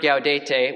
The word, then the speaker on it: Gaudete: So, first syllable, Gau. Let's hear it. Gau. Second, De. De. Put that together. Gau, De. Gau, De. Te. Te. Put that all together. Gaudete.